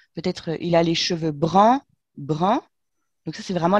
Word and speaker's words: brun: Et on va dire il a les cheveux bruns, hmm. bruns comme un brin d'herbe. Alors que Ouais. ça s'écrit pas pareil.